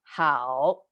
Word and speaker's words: 好: Good is pronounced 好. See, it curved down and up.